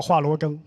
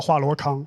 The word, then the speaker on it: Hua Luogeng: Because of this, people called him the 'Little Hua Luogeng.' Our math teacher called him 'Little Hua Luokang' (mispronouncing it).